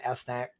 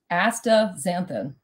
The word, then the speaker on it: astaxanthin: at night, and you're taking 12 milligrams of astaxanthin. I can't pronounce the word. Say that again for me one more time. Astaxanthin.